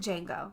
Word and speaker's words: Django: I thought was did Django no it's Django the D is silent they ignore the deshay